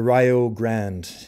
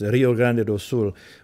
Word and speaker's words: Rio Grande: Do is an old sea shanty called the Rio Grande and uh it's mispronounced that way there it's Rio Grande which is a river in Brazil and it's